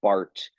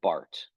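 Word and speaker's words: Barth: speak German uh Carl Bart is from the German speaking part of Switzerland so um that's why it's pronounced Bart and not bar okay uh Carl Bart okay um he is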